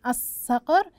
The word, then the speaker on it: الصقر: الصقر الصقر الصقر احسنتم اذا لام شمسيه تكتب ولكن لا تنطق حرف الصاد من حروف